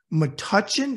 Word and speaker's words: Metuchen: New Brunswick New Jersey and grew up in Metuchen is that am I say right that's right